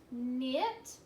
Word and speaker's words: knit: knot in my shoe knit I like to knit sweaters but I don't and nice okay all of these words start with the MM sound but it's spelled with a k in okay not knit